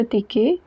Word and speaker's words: ticket: Coming back to the line number 5, le prix de votre ticket. Votre, we know it is the possessive adjective meaning your. Ticket, et at the end is pronounced as a.